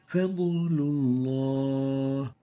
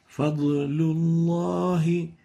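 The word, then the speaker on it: فضل الله: The fourth mistake is mixing the sound of the bad with that of a sound of nasalization, giving it gunna. Fadlullah. While the right way of pronouncing it is like this. Fadlullahi. Fadl, without giving it gunna.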